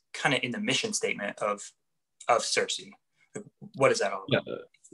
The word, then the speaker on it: CiRCE: Is that how it's pronounced? CiRCE?